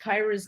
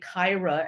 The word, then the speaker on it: Kyra: And my bad, I mispronounced Kyra's name. It's actually spelled like an I, Kyra, as in Tyra.